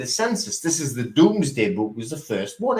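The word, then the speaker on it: Domesday: It might be Doomsday, but it's pronounced the Doomsday Book.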